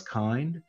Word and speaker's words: Kind: This is spelled out Kubernetes in Docker, but you'll see it often referred to elsewhere as Kind.